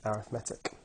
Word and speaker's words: arithmetic: Just in case anybody's wondering, yes, this word here does say arithmetic, however when it's used as an adjective you pronounce it arithmetic.